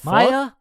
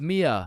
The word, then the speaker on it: Mia: Wait, what the Maya. Is is Maya present? Uh, it's it's Mia. Wow. Quite the name you got there. It's spelled kind of weird. No, no, it's not. It's literally three letters.